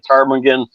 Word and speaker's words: ptarmigan: she says, you know, nobody has ever heard a ptarmigan go to the bathroom because the P is silent.